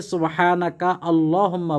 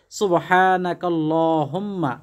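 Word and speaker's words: سبحانك اللهم: অনেকে সুবহানাকা আল্লাহুম্মা বলে, ওইভাবে বললেও হবে, তবে উত্তম হলো সুবহানাকাল্লাহুম্মা মিলিয়ে পড়া।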